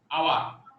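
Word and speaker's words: hour: যেমন ধরো একটা এটা এখানে কি এইচ এর উচ্চারণ এসছে না, আসে নাই, আওয়ার, এখানে এইচ এর উচ্চারণ নেই, তার মানে এখানে আমাদের এইচ এর উচ্চারণটা নেই, এই এইচ এর উচ্চারণ নেই, কার উচ্চারণ এসছে?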